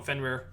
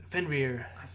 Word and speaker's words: Fenrir: um yeah sorry yeah just call him fenware fenrir although it's spelt fenris but fenrir is how you pronounce it i'm wondering um could